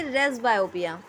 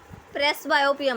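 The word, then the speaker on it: presbyopia: Last हम पढ़ेंगे रेस बायोपिया। प्रेस बायोपिया मत पढ़ना, पी साइलेंट होता है इसका।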